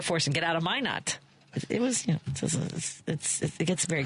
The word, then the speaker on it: Minot: Up until this moment, I didn't know how to pronounce Minot. I've seen it. Minot? Yeah. I would have thought it was Minot or something. No, it might be, but everyone there says Minot when I was there.